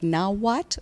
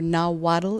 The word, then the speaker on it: Nahuatl: pronouncing is more like now what or now waddle it has an L on the end but you don't pronounce the L and the wietrow language